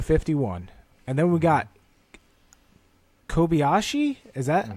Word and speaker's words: Kobayashi: We have Rockefeller in the 42, Andy Lally in the 51, and then we got Kobayashi. Is that how you pronounce?